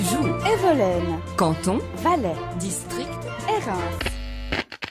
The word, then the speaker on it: Hérens: evolen canton valet district Erin Erin pas Erin mais je croyais qu'en valet le S final se prononcé comme à Molin Molin c'est de l'autre